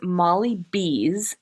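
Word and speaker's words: Molly Bz: So, our newest sponsor is Molly Bees, and that's a BZ, but it is pronounced B like Bumblebee.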